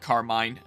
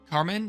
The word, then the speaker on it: Carmine: and Kieran I know some people pronounce it Carmine like fight me Carmen is the much more